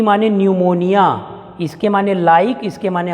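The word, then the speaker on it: pneumonia: पी न्यूमोनिया में भी P silent होगा। न्यूमोनिया, pleuro न्यूमोनिया like, L माने लाइक, O माने ऑर्गेनिज्म।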